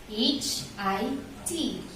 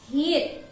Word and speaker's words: hit: ma'am another examples we have h i t h i t hit kick no the proper pronunciation for this is hit say it hit hit very good let's have